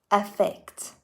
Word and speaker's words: affect: at the start while the verb starting with a has an a sound and i would have to open my mouth a little bit more effect affect let's not worry about